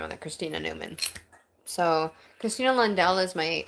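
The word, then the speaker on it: Numan: it's with an N, but it's Newman is People will be like, "Okay, well, it's spelled this way." I'm like, "No, sorry. It's N U M A N."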